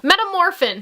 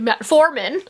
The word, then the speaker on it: metformin: For example, metamorphin. It's actually metformin.